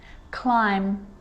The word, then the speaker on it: climb: a rule to remember with the letter b it's always silent when it follows the letter m silence so practice them with me i'm not pronouncing the b i'm just pronouncing the m consonant sound climb crumb and